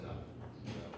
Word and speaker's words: enough: that the word enough, as it's spelled, was pronounced enough. Who would know that the GH at the end is an F sound?